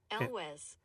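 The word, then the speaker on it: Elwes: This is this guy John Elwz. Elwez. So there's the pronunciation.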